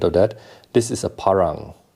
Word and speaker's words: parang: uh westerners call it parang or some variant of that this is a parang that's at least how it's pronounced locally and so if you want to be true to its name it's parang not parang so that's